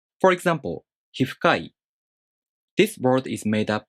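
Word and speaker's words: 皮膚科医: In many compound nouns that have 1 or 2 moras in their following part, the accent falls on the last mora of the first noun. For example, hifukai.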